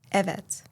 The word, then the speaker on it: evet: A friend once told me I am not truly Turkish because I do not pronounce eets with the right vowel. I use a instead of e.